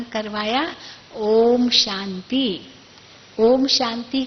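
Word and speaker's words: ॐ: इसीलिए आपको पहला ही शब्द क्या उच्चारण करवाया, ओम शांति। ओम शांति का अर्थ क्या है? ओम शब्द में 3 अक्षर आते हैं, अ, उ और म, है ना।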